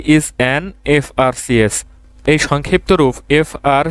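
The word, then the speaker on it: FRCS: singing a সংজ dash F আর সিএস হি ইজ অ্যান এফ আর সিএস এই সংক্ষিপ্ত রূপ এফ আর সি এস এর ক্ষেত্রে এই এফ টা কনসোনেন্ট হলেও এর উচ্চারণটা ভাওয়েলের মত এ কারণে এখানে এন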